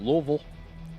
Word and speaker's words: Louisville: Louisville. You gotta say it like that. Louisville.